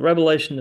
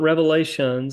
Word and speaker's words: Revelation: Revelation, the book of Revelation is the revelation of Jesus Christ. It's not Revelations, it's the book of Revelation, and a lot of